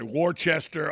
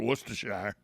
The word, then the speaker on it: Worcestershire: that's hard to pronounce worcestershire i mean you hear people say worchester all kinds of things for worcestershire and respite i i